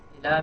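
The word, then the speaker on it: إلى: Now, when you have something like ila, ila means to or towards, right? So usually, when it's just standing by itself, you don't pronounce the ya, right? You say ila.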